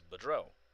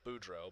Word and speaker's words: Boudreau: you've ever heard but my last name is very predominantly french it's boudreau or well budrow but you know it's it's also pronounced budrow um but i i've